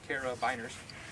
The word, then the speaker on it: carabiners: They're actually spelled biners, so at the end, carabiners, but pronounced beaners at the end.